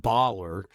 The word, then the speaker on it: Boller: So I grew up in Maryland, and our last name was actually pronounced Boller before we came over to the United States. It's German, and then it got changed.